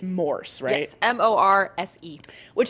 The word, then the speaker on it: Morse: It's not Morris. It's not like Morris's code. It's Morse, right?